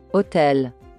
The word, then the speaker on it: hôtel: But in French, we do not pronounce the letter H. For example, hôpital. Hôtel.